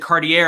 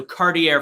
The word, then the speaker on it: Cartier: i did the preview for today i said cartier and i'm like that doesn't sound right because i had heard it on ice so cartier from this point forward i always hate when